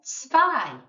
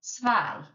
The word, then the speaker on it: zwei: The number 2 is zwei. There's that sound again. E-I. We're pronouncing the I. So zwei. If you remember from up here, The Z sounds like S, and the W sounds like F.